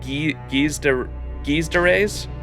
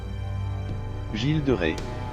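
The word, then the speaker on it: Gilles de Rais: How do you say, because isn't the two L's supposed to be like a Y? Is it Guise de Reyes? That was terrible, wasn't it? Gilles de Rey. Gilles de Rey. Gilles de Rey.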